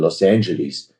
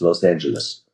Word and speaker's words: Los Angeles: I now live in Los Angeles." And they said, "No, no, it's Los Angeles." And And you can always tell when somebody's not from here when they don't pronounce it properly.